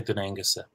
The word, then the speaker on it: Dún Aonghusa: So I would say Dún Aonghusa, as well. Okay. Not a strong gut, but a little bit of a gut there.